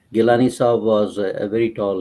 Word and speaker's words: Gilani: Gilani Saab was a very tall leader for the last 40 to 60 years.